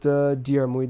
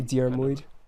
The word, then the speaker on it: Diarmuid: How do you pronounce his name? I say Diarmuid. Yeah, Diarmuid. Yeah. You don't pronounce the I in the latter part? I don't think so. Okay. I don't know. I'm not the best with pronunciation. Honestly, in JP they don't. It's Diarmuid though.